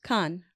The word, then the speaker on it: Cannes: Cannes. Cannes. Maybe it's Cannes. Do you know, Mark? You know what? It's one of those things where, like, I always hear it's Cannes.